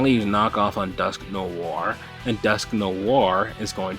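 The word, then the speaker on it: Dusknoir: So interesting the the pronunciation pronun pronunciation of that Pokemon name because I used to call it Duskanor. Um, but you know, Dusk Noir, that's pretty interesting.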